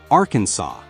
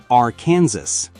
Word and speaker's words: Arkansas: The correct pronunciation is Arkansas, not R Kansas.